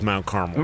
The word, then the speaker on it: Mount Carmel: But this is Mount Carmel.